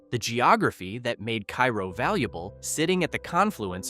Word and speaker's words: Cairo: Cairo, pronounced Cairo by locals, sits at the very tip of Illinois where the Ohio and Mississippi rivers meet.